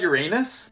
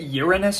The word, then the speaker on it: Uranus: Dude, did you know that 63 Earths could fit inside Uranus? Excuse me? Yeah, the outer planets are huge, man. Oh, please pronounce it Uranus from now on.